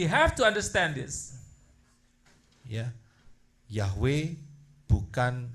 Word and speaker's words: Yahweh: Ya, Yahweh bukan Yehova, bukan. Yahweh is not Jehovah. Jehovah.